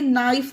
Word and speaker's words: knife: अब ये आप खुद पढ़ के देखिए, नाइफ में कहीं पर भी का की ध्वनि आ रही है? नाइफ नहीं आ रही है ना, क्योंकि यहाँ पर के साइलेंट है। और क्यों साइलेंट है? क्योंकि रूल में यही है कि जब के बाद एन हो तो के साइलेंट रहेगा।